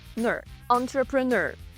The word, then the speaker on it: entrepreneur: Entrepreneur. Entrepreneur. Наголос на кінець слова.